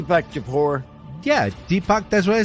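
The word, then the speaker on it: Deepak Chopra: his name is deac chapara there we go chap de Deepak chapor yeah Deepak that's what I said Deepak chapor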